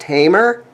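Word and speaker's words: Hamer: for a long time some guys pronounce this Hammer but it's pronounced Tamer and you can see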